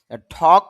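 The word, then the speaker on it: talk: ঠক কথা বলা, এখানে এল এর উচ্চারণ হবে না।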